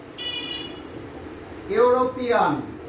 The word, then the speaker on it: European: As for example, he is dash European. Okay, EU is pronounced like U, so A is used before it.